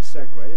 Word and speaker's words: segue: another neat segue for us learn this word segway it means a musical transition from one tune